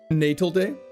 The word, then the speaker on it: Natal Day: It's pronounced Natal Day like Navy. Navy.